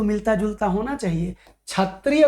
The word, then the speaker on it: क्षत्रिय: मिलता जुलता होना चाहिए क्षत्रिय को ही खत्री क्षत्री बोल देते हैं भैया क्षत्रिय खत्री क्षत्रिय खत्री